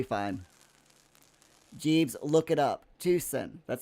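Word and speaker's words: Tucson: Some people people say Tusen equals Tuxen, but the Spanish pronunciation is as I said it.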